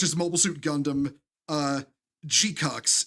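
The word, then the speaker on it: GQuuuuuuX: Uh Gcucks. It's spelled GQ. GQ with like sick U. GQ. Uux. People call it either Gcucks or G Quacks, like whatever, because that's just easier to say.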